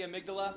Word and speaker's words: amygdala: I pronounce it like the way the brain... Yeah, the brain. The piece of the brain. Yeah, I always say the piece of the brain, the amygdala, but every character that voices it here says amygdala.